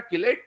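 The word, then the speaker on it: chelate: ये जो रिंग बनी इसको किलेट रिंग बोलते हैं, चिलेट रिंग बोल देते हैं स्पेलिंग के हिसाब से लोग बात, ठीक है, पर अपन इसको सही प्रोनाउंसिएट करें तो क्या होता है? किलेट ring.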